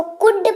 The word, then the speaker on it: could: कुड सबसे पहला शब्द है हमारे पास, COULD। उच्चारण जो है वो एल का साइलेंट होता है, तो इसीलिए इसको कुड पढ़ते हैं।